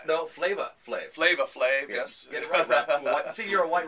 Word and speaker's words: Flavor Flav: you just go to the website dr drew flavor flav no flavor flav flava flav yes see you're a white rapper from did